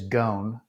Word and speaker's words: Gohn: I'm sure a lot of people thought it was Gohn, or still thinks it's Gohn. They can call me whatever, but it is Gohn.